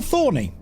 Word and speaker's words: T.Horny: So that way it's still Thorny. It's pronounced Thorny.